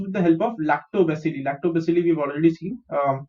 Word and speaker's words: lactobacilli: Lactobacilli we've already seen. The pronunciation is LAC, lact, TO is to, BA is b, CIL is sil, LI is li. Lactobacilli.